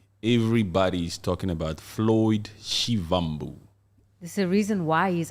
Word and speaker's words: Shivambu: Floyd shibambu do you know how to say his name it's Floyd shivambu shivambu shivambu yes with a V Floy shivambu yes this